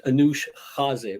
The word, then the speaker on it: Anoush Khaze: the first one i guess my name is anush jazee but a lot of people have a little